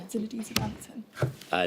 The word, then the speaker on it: Zinedine Zidane: Is that how you pronounce it? Zinedine Zidane. Yeah, Zinedine Zidane.